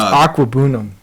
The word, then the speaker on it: Okwuegbunam: Albert Okwuegbunam. Okay. OKWUEGBUNAM. We'll just call him Albert O. Aquabunam. We'll just call him Albert O. No, it's Aquabunam.